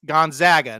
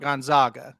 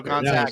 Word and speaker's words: Gonzaga: What's their nickname? I said the Zags. He said exactly, not the Zogs, the Zags. So Gonzaga. Nice. So there you go, because he's a huge Gonzaga fan, and so he corrected me one day.